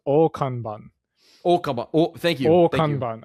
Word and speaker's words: Akane-Banashi: By the way, I think it's pronounced Okanban.